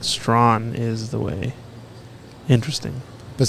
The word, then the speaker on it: Strachan: David Brock uh chimed in and said it's pronounced Strawn yeah he says that it it's uh is